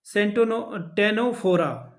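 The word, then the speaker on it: Ctenophora: बाकी अगला सवाल देख लेते हैं क्या है, व्हाट इज टेनोफोरा। यहाँ पे सी साइलेंट है।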